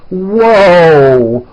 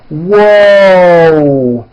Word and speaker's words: whoa: say whoa whoa right now watch my mouth when I say that whoo there's a w sound at the beginning of that but there's also a hidden W sound at the end whoo and my mouth is also very forward and tight whoo whoo whoo whoo